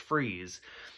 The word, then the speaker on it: Fries: it's victor freeze but it's spelled like fries it's f-r-i-e-s but it's german so it's pronounced freeze but like that's from